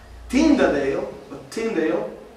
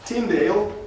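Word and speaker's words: Tyndale: pero no solamente eso tinda de lo pronuncio bien ahora tindale tradujo al inglés en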